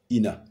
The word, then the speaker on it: Ina: sous ton cytère a nous obtenons donc la transitération Ina qui se dit Ina pour le vérifier explorons